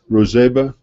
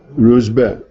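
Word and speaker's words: Ruzbeh: Somebody who is here is Persian can tell me the right way to say it. Rozeba? Ruzbe. Thank you. His name was Ruzbe.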